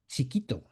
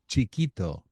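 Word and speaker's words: chiquito: Chikito. Chikito. Chikito. How you spell that?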